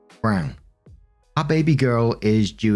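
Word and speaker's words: Braun: r a u n but it's pronounced Brown wife of probably one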